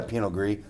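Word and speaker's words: Pinot Gris: By the way, we had a penogree. Same grape. Different pronunciation depending on where you're from.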